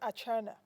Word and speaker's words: Archenar: obsidian or China sorry obsidian a okay obsidian atna all right yes I hope I don't Mur